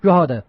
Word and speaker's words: Drogheda: Pronounce it. What the Drogheda? Drogheda.